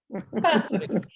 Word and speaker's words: Passeri: Did I say it right? Passeri. Passeri? How do you say it? Yes. Passeri.